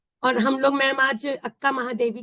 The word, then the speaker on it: अक्का महादेवी: कहते थे तो इसलिए शायद कन्नड़ में आ की मात्रा का लिखी नहीं जाती उच्चारण किया जाता है ना तो इसलिए लिखा जाता है शायद अक कन्नड़ में लेकिन उसको हम बोलते हैं उच्चारण करते हैं अक्का महादेवी तो आज हम लोग